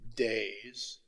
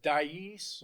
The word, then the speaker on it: dais: you're sitting up there on the days you know i heard somebody pronounce it dais or something like that so apparently i'm pronouncing it wrong but you're up there